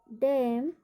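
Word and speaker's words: damn: Kolam, डैम, सोलम। पी का उच्चारण, कि पी का उच्चारण हम कब नहीं करते हैं?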